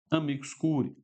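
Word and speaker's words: amicus curiae: então o amicus Curi que se escreve assim amigos Curi ai mas se pronuncia amigos Curi tá E aí meu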